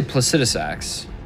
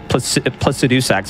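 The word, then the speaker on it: Placidusax: what do you say I say placidus acts I just don't understand the people that say plus to do sex I just don't get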